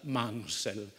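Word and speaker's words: Munsell: affascinante psicologico dell'arte pittorica si scrive moon sel si pronuncia mansell è stato facile per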